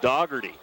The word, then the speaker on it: Doggery: Looks like Dohy, but I asked Coach Shirlet before the game and he says actually you pronounce his name Doggery. I was like really? So that's the way they say it in Enterprise.